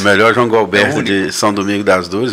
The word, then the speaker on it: Gualberto: Não é Goberto, é Gualberto, né? Muita gente chama Roberto, Gualberto, Alberto, Dalberto. Mas o certo é com G-U-A, né? Gualberto, G-U-A-L é Gualberto mesmo.